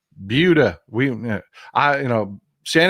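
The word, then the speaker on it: Buda: south of uh south of Austin uh called budha B Buu D not Buddha budha we I you know San Antonio is in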